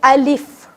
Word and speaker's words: الف: کچھ بہتر کر سکیں۔ تو الف کی جو ریئل پروننسیشن ہے یا جو حقیقی تلفظ ہے وہ ہے الف، رائٹ؟ الف، الف لام میم۔ اب ہم میں سے